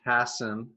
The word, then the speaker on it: Hassan: me um and my last name is pronounced Hassen oh sorry about that